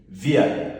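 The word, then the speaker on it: wir: singular now you now come again we we via this is first person plural via you say what via remember W is pronounced like what V then we now have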